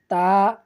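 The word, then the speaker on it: ت: সঙ্গে লাগিয়ে উচ্চারণ করব, তা। তো তা হরফটি আমরা জিহ্বার আগা সামনের উপরে দুই দাঁতের গোড়ার সঙ্গে লাগাবো, এরপর সুন্দর করে উচ্চারণ করব, তা।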